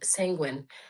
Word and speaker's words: sanguine: The point is knowing how to say the guine part. Is it guine? Guine? Gu- I It feels like guine, like genuine.